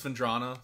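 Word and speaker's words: Phendrana: I always say it wrong, sorry. We're gonna say Fendra a lot, but it's Fendrana for your purists out there.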